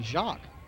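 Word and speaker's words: Jacques: fix his equipment paul jacks and i hope i'm saying that right it's spelled j-a-c-q-u-e-s if i was in canada and should be shocked i believe third down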